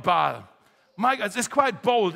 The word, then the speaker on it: Baal: Uh the god called Baal or Bal. How do you say it? Bal.